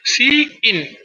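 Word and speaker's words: cin: the predefined identifier C in so C in pronounced as C in so this is the name of identifier so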